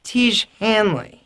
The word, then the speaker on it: Tiege Hanley: if so incredibly manly what rhymes with Manley te Hanley te Hanley is incredibly